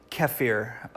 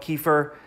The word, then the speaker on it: kefir: you do this and a lot of people pronounce it differently so you might hear about kaffir or kefir but I call it kefir it doesn't really matter